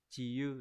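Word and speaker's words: 治癒: Chữ rũ sẽ đọc là chi yu đúng không?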